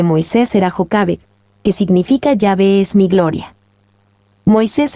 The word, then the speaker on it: Yahvé: En los días de la Biblia, el nombre era pronunciado como Yahvé o Yahvé.